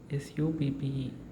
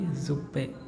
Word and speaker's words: Suppe: This is the word suppe, SUPPE. So here the letter S is there, then the pronunciation will be za, right? So this word will not be suppe, it will be zuppe, zuppe, zuppe, zup.